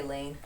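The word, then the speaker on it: Laine: Well, I would say Lane. I'd say Lane too. It's actually pronounced Lina, I believe.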